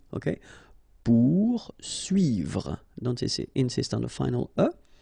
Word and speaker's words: poursuivre: Okay, so remember that when you get this combination of O and U, you will get the sound OU. Okay, so pour, and then U and I here, UI. Okay, poursuivre.